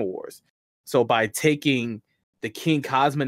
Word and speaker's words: Xing Kazama: Yes, I do have a lot of people who call me Xing, Xing, Crossing, everything under the Tuscan sun, but it is pronounced Xing Kazama.